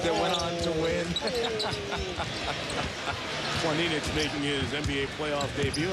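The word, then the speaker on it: Planinić: And you've heard all year his name pronounced Planinic. But checked with Zoran before the game, and he said the correct pronunciation is Planinic.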